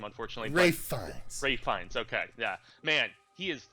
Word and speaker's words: Ralph Fiennes: And Ralph Fiennes, I always mispronounce his last name, unfortunately. Ray Fiennes, okay, yeah.